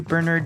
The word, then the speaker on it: Bernard: it take a listen I used to tell Americans that my name wasn't Bernard it was Bernard and I would correct